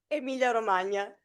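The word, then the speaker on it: Emilia-Romagna: also the region Emilia Romana. Yeah I know there is a GN which is difficult for nonItalian speakers.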